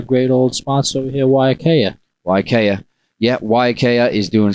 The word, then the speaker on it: Waiakea: And we've been saying the name wrong. Now we're saying it right. Waiakea, even though Waiakea does,